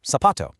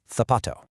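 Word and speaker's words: zapato: So, sapato. But in most of Spain, it has more of a th sound, tapato.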